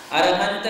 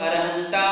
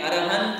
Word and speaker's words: अरहंत: इसमें अरहंत की जगह कई लोग अरहंता मंगलम बोलते हैं, किंतु जो प्राचीन और शुद्ध पाठ है वो यही है, अरहंत मंगलम। ऐसा क्यों? इसका भी एक कारण है, वो हम आपके लिए बताएंगे। किंतु शुद्ध पाठ में अरहंता मंगलम, सिद्धा मंगलम ऐसा नहीं बोला जाता है।